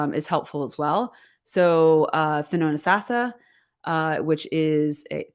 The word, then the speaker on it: Thonotosassa: So Thonotosassa, which is Thonotosassa, and everyone mispronounces it. The T is silent in the middle. Thonotosassa has a lot of land there.